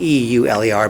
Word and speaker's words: Euler: Now it's spelled E-U-L-E-R, but in French it's, I guess, Euler.